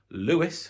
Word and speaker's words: Lewes: listed value will have from Lewis spelled l-e-w-e-s e here probably now